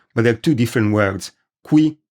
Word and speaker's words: qui: Qui, spelled with a Q, means here, and it is pronounced qui.